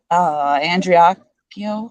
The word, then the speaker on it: Andreacchio: Spirits, can we please talk to Christian Andreacchio? Is that how I say it? Yeah, that's how you say it. Okay. Can we please speak to Christian Andreacchio, spirits?